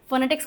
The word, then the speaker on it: phonetics: इसका pronunciation PH जो है वो F का साउंड लेता है, इसको लिखते भी ऐसे ही हैं, फोनेटिक्स।